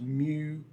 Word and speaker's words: mu: uh that's a a Greek symbol it's it's pronounced mu uh and that is the the mean if